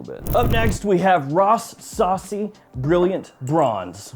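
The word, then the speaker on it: Rasasi: up next we have Ross Saucy brilliant bronze yes I know it's pronounced rassi so this one is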